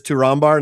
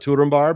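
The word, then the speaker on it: Túrin Turambar: call him Turin Turar, but apparently it is Turar, not Turbar because the MB is a double consonant and you're like, ah, of course it is.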